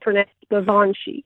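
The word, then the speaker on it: Baobhan sith: Babanshi. Cool. And it's spelled Baobhan. So it's a Gaelic word and pronounced Babanshi.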